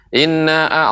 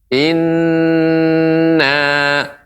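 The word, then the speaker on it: إنّا: tepat dalam pengucapannya yaitu ketika mengucapkan Inna ya ini Nun yang bertasydid sehingga tidak terburu-buru Ina Apa Ina kurang tepat akan tapi harus diberi tempo Inna Inna demikian kemudian juga catatan ya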